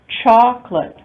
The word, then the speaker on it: chocolate: Chocolate, 2 syllables, not chocolate, but chocolate. The O disappears or is deleted.